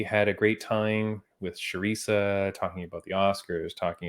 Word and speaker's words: Charisa: we wanted to have sharisa on i can't believe you got the name wrong theresa uh sharisa on amazing we're so